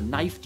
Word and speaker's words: knifed: knocked your knuckle or knifed your knee why would there be so many k's well the k's are silent by mistake the original old english